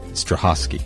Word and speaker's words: Strahovski: big time wait let me make sure I get the name right Strahovski stovsky stovsky stovsky yes right sometimes these are silent you never know I know it's funny